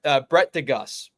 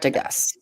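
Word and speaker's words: de Geus: All right, so Brett DeGus. Brett DeGus. As we have found out today, is how you pronounce his last name.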